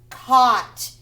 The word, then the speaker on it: caught: needs it were flew caught the g.h is silent caught were flew caught